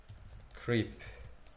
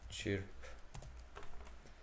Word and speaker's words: Chirp: Creep yok. Kirp. Ne de okunur? Kirp olarak okunur. Kirp olarak okunur. Chirp. Click. Chirp. Chirp. Chirp olarak okunurmuş.